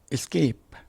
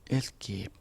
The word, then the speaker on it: escape: Escape ไม่ใช่ escape c หลัง s เป็น hard c เกะไม่ใช่ soft c เกะยังออกเสียงว่า escape She was lucky to escape serious injury.